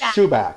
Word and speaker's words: Schubach: it's helped me out it's pronounced chewbacc right it is shoeback of shine mba admissions consulting